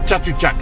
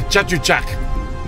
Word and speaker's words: Chatuchak: Chatuchak. Yeah, okay, Chatuchak.